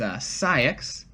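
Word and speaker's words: Saïx: Number 7 is Cyax. SAIX, but the I has like 2 dots over it. Okay. For some reason. Axel. And 8 is Axel. And actually, Sykes and Axel's original people,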